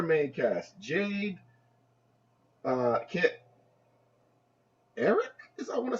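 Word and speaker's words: Arik: um womanizer apparently Eric oh no it was Eric not Alex but it's spelled we right a r i k yeah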